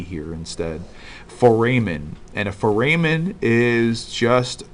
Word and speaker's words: foramen: pronounce it differently oh gosh maybe not maybe it's spelled differently fo RA M en the word is foramen I just kept thinking